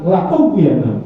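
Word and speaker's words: لَأُغْوِيَنَّهُمْ: Nah, ini ada lam alif, dibacanya pendek, tidak la, tapi la ughwiyannahum.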